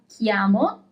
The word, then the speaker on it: chiamo: So you see you have chiamo, C-H-I, chiamo.